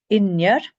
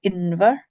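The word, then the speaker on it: inbhir: Inyer. You can also say Inver, like you know that one from Inverness and Invermorrison and so on.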